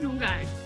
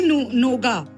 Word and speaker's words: nougat: I think it's nougat. How do you say it? Nougat. Nougat. Yeah, I think that. I used to say noga. Noga. I think it's nougat.